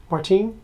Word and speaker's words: Martin: Poss by Martin or in Spanish, how would your last name be pronounced? Martin.